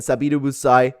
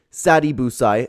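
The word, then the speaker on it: Sadibou Sy: Klay caller to and sabid buai to win excuse me Sadi busai I didn't mean to mispronounce there both to win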